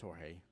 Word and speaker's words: Jorge: He's like, I'm George, and I was like, oh, I was like, are you George or you Jorge? And he's like, it's Jorge, but he's like, some people have such a hard time pronouncing it.